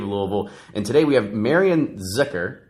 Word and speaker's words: Marianne Zickuhr: And today we have Marianne Zickuhr, right? Say it right. So yes. Marianne Zickuhr, who's the executive director of Preservation Louisville.